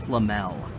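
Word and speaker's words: Lemuel: L McCroskey and her husband limbo it's spelled lem UEL I think it's lamelle mccroskey their house little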